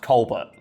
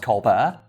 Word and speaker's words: Colbert: Well, his name is supposed to be pronounced Colbert. And the story goes that he didn't like it. So he thought when he went to college, like, no fucker here knows me. I'm just going to tell everybody it's pronounced Colbert. And that's how his name's pronounced now.